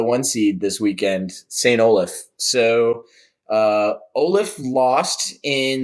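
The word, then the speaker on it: St. Olaf: i think it's st i think it's pronounced olaf it makes no sense but yeah how it looks but like i think we got corrected on that a couple years ago at nationals okay it is olaf so yeah but a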